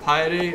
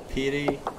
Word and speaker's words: piety: Is it piety or pity? It is piety.